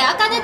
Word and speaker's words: 明香音: ライター、明るい香る音と書いてあかねと言います。